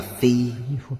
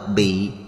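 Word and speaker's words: 被: nguyện vì chúng sanh chữ này đọc là phi đem áo quần mặ vào người không đọc bị mà đọc là phi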